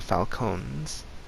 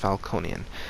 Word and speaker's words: Falcone: game the Falconi family the Falconi are or the falcones I think they're pronounced Falconi uh are America's oldest